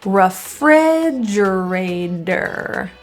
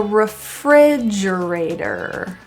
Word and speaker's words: refrigerator: So that will sound more like a der than tor. Refrigerator. Clean the refrigerator.